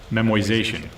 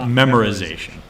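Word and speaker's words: memoization: that instead we'll get into another technique called memorization memorization right it is spelled like that it is pronounced like that it is not memorization and the basic idea here is that you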